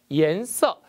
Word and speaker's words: 颜色: 颜色, 색깔, 색상이라는 단어가 보입니다. 이때 발음이 중요한데요. IAN은 YAN으로 바꿔서 이안이라 읽지 않고 EN으로 읽는다는 불규칙이라는 거 정리해 두시기 바랍니다.